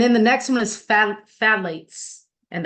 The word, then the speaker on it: phthalates: And then the next one is phthalates, and that is how you spell it. It might be a Greek name or something. I don't know. In English, it's like, that should be not phthalates, but it is.